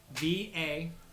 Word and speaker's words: Vaelosh: I need to definitely spell that. Vaelosh. ASH, and there's actually an accent mark over the A. Vaelash.